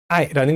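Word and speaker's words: 爱: I라는 글자를 한글로 쓰면 아이라고 두 글자로 쓰게 됩니다.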